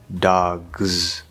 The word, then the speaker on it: dogs: interesting he seems interesting or dogs because g is voiced dogs so you really want